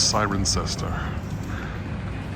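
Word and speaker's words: Cirencester: going on here today Mis pronounce it before it's siren sester and it's known as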